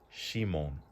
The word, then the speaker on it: 指紋: This right here is pronounced shimon.